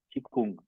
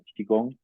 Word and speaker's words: Qigong: Pues es lo mismo, pero la pronunciación correcta sería Qigong, ¿no? Esa es la pronunciación en chino como Qigong. A veces como que se traduce al inglés como Qigong, ¿no?